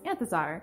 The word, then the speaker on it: Anthezar: My real name is, and my published pen name is Anthezar. It's pronounced how it's spelled.